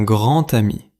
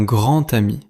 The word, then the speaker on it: grand ami: Dans la liaison, la lettre d finale de grand se prononce comme t. Écoutez : un grand-t-ami. Répétez : un grand ami.